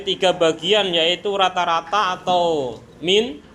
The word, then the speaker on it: mean: bagian yaitu rata-rata atau min min apa mean bacanya Min Ya udah itulah median